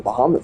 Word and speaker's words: Bahamut: you can see the Bahamut fight. a Bahamu. It's pronounced the same way in every game.